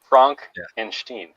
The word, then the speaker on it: Frankenstein: oh okay yes yes frankenstein frank and steen that is the proper pronunciation uh james uh make